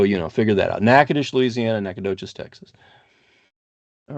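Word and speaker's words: Natchitoches: naous but it's pronounced nackadish because it's more the French pronunciation and so you know figure that out nakadish Louisiana Nacadoches Texas all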